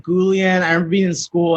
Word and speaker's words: Guillén: they were just like gulen is it gulen and it's like no it's like the double l makes a sound and you grew up